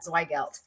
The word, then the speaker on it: Zweigelt: and i'm so excited to learn more about zweigelt am i pronouncing that right okay yes okay um christina